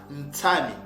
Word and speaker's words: ntami: Donc on peut dire sami, ça s'écrit sami, mais on le prononce ntami.